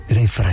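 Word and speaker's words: Greyfriars: Grey Fryers, así se pronuncia.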